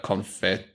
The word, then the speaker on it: confit: to get this duck confit going. I'm sorry. I'm just loving how you keep saying duck confit. It's killing me. How is it said? Confit. You don't pronounce the T in français.